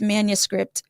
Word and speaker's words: Manuscript: with defining what does manuscript mean and it's pronounced Manny like a manicure plus scripting the combination of words